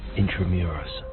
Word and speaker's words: Intramuros: Intramuros. 인트라무로스.